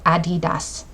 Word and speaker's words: Adidas: nickname is Addie and Das is dler so Adidas and that's actually the correct pronunciation I always say Adidas and and then